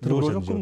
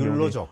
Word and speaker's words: 욜로족: 요로족은 무슨 뜻입니까? 네. 요로족이요? 요로족 또 발음을 율로족이라고 하는 율로족. 경우에 예. 요로족도 율로족도 있는데요.